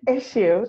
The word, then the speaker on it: Issuu: Issuu. It's pronounced just like a regular, they just wanted to be fancy with a spelling.